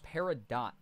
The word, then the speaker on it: Peridot: See, I thought it was French. So T's at the ends of words in a lot of French words are silent.